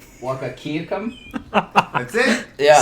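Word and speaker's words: Wahkiakum: Wakakiakum. That's it. Yeah, Say it I louder. think you nailed it. Wakakiakum.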